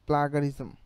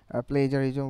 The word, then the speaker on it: plagiarism: content detect as এ প্লাগারিজম প্লেজারিজম যেটাই বলেন আমি উচ্চারণের ভিতরে প্লেজারিজম বলতেছি আবার ভুল উচ্চারণটা প্লাগারিজমও বলতেছি তো এখানে দেখেন প্লেজারিজম